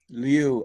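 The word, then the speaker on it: 履: is press u is roll back and on lu lu it's usually it's pronounced Lu it's spelled Lu or Liu sometimes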